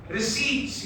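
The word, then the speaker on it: receipts: उसके बाद जी हमने किया था रिसीप्ट्स याद है आर ई सी ई आई पी टी एस P stands P is silent रिसीव्ड what is रिसीव्ड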